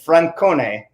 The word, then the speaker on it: Francone: at roosevelt university vincent francone good pronunciation chad i went hard i leaned into the italian for you yeah i'm cloudy somebody